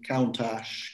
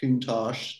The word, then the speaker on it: Countach: would you buy i might buy the lamborghini countach countach depends how you want to pronounce it from cannibal run i remember that